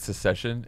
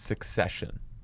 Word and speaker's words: succession: out of the process you keep pronouncing it secession and it's succession secession is like what